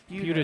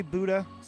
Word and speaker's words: Buda: Amarillo College from Buda, Buda. Texas. Mr. Tello is. I always appreciate a nice pronunciation of that town. Because I think I told you last good time. stuff. I say Buddha.